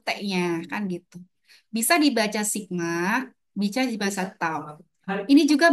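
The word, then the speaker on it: σ: Sigma ini bacanya sigma, teman-teman. Ini juga bacanya sigma. Jadi jangan bingung ya. Ini juga dibaca sigma.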